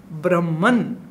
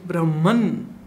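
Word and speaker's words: ब्रह्म: In Hindi we call it Brahm, not Brahma. Brahma is the creator, but we say Brahm. But many people like to pronounce it Brahman. Maybe that's right, maybe not, but I choose to speak Brahm, the way we do it in Sanskrit.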